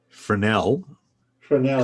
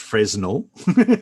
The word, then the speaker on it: Fresnel: paul that early on i very nearly answered fresno ah no fresnel commonly commonly mispronounced fresno yeah i'm english why